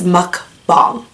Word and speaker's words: mukbang: it's not mukbang and it's not mukbang it's like a hybrid it's muck bomb there's a Korean Nicola